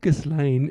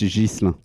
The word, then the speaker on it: Ghislain: out some pronunciation issues hello gizan I hope Gan is the right way to pronounce it it's jisa jisa but I mean almost 10 years in